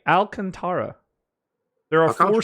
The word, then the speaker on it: Alcantara: pronunciation okay um so it's contrib like like the iran-contra thing and then you just say howl in front of it yeah I'm not